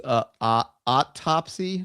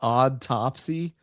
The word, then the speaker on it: autopsy: It's autopsy, not autopopsy.